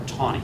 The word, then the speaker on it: Taney: by the name of Roger Taney, or Taney, Roger, I've heard it pronounced either way, Roger Taney, a Southerner,